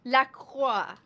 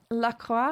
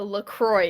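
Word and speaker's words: LaCroix: It's like it's pronounced Lacqua. Laqua. For those who are wondering, I don't know what a Lacroy is.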